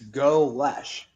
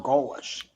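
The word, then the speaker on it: Golesh: It is exactly what it looks like. It's Glesh or Galish. Golish.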